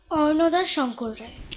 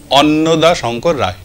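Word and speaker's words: অন্নদাশঙ্কর রায়: না, রটা নেই, অন্নদা, অন্নদা শঙ্কর রায়।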